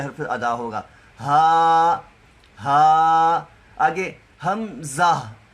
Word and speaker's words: حمزہ: ادا ہوگا، ہا۔ آگے حمزہ، یہ جو حمزہ ہے یہ 4 حرفوں کا تلفظ ہے، اس میں ہا، میم، زا اور پھر ہا، آخر پہ ہا ادا ہونی چاہیے، حمزہ۔ ایسے جب ہم